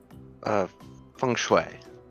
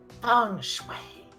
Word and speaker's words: feng shui: How do you pronounce it, Mr. Felix? Feng Shui. Feng Shui.